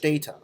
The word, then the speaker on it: data: As you can hear, the front part of the pronunciation is stressed.